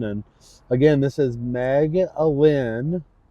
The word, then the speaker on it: Alyn: And again, this is Meg Alyn. It's pronounced Alyn, but it's Alyn.